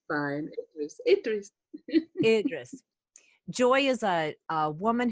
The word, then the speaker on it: Idries: She will pronounce it correctly for me. And it's fine. Idries.